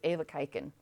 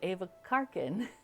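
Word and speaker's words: even kijken: You don't really pronounce the end, so it's Ava kaiken. But we had stuff that was going into a car, and so I said Ava karken to our Dutch friend, and yeah, she was like, no.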